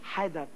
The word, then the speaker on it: হায়দার: হ্যাঁ শোনো, আমার নাম হইতেছে হায়দার, শুদ্ধভাবে স্পষ্ট ভাবে উচ্চারণ করবা হায়দার, ঠিক আছে?